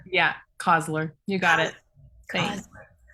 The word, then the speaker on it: Coslor: Coslor? Yeah, Coslor. You got it. Thanks. Coslor. How do you spell it?